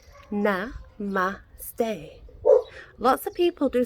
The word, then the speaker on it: namaste: into Ostara Ostara depends I pronounce it and namaste na ma stay well lots of people